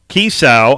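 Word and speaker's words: Kiesau: staff a former wide receivers coach eric cassow kisau i hope i'm pronouncing that right it's key a k i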